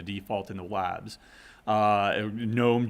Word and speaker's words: GNOME: in the labs uh gnome g-n-o-m-e gnome or gnome however you want to pronounce it those are windowing